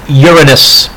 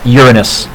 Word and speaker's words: Uranus: got those rings right keep going out it's pronounced Uranus it is not pronounced the way all of you want to giggle and pronounce it it's actually pronounced Uranus keep Neptune and then when I was a